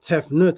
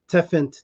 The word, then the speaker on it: Tefnut: the great cat and the T at the end makes it feminine so it's actually te Fenty and they pronounce it tefnut as if it's n-u-t but it's actually teffant tea tefan T like